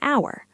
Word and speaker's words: hour: apple, an elephant, an hour. Notice I said vowel sound, not vowel letter. An hour uses an because hour starts with a vowel sound. The H is silent.